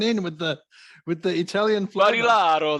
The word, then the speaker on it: Barilaro: Barilaro. That's how you say it.